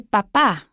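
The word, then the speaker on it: papá: are both really important so if you say el papa that's your father el papa stress on the second syllable if you change it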